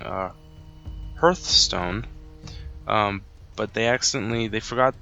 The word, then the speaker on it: Hearthstone: the correct pronunciation is hearth stone um because it brings together two words Hearth and then Stone I think it's 14th